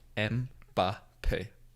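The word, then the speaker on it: Mbappé: 3 syllables. Mbappe.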